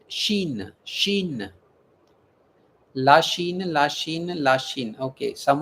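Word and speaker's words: Chine: C H I N E. We pronounce it. Shin.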